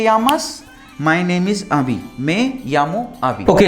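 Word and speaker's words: me llamo: तो मैं यामो आबी, मैं यामो, इसे मी नहीं बोलना है, ठीक है।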